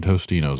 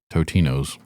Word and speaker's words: Totinos: It's never been Tostinos. It's always been Totinos. That's just dumb kids like us for saying it wrong.